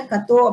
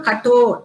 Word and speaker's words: Katho: ஆக்சுவலா அதை கத்தோ அப்படின்னு நம்ம படிக்க கூடாது. ஆக்சுவலி அது எப்படி படிக்கணும், கட்டோ டா செகண்ட் டா கட்டோ உபனிஷத் அப்படின்னு தான் இதை நம்ம ப்ரொனவுன்ஸ் பண்ணணும்.